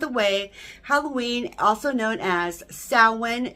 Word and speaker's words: Samhain: Halloween, also known as Samhain. It's spelt like it's Samhain, but it's actually Samhain, and this is the witches' holiday.